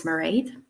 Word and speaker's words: Mairead: Well, my name is Mairead, rhymes with parade, and I am from Ireland.